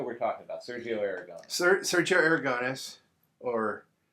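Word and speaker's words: Sergio Aragonés: Sergio Aragones, or Sergio Aragones, as it's supposed to be pronounced, but we all talk like a bunch of Americans here.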